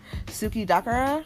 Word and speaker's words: suki dakara: for me but this one is called um suki dakara and i really really love it it's a